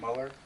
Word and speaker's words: Muller: Base auto on Mueller, or Muller, maybe pronounced Muller, since there's no U after the E.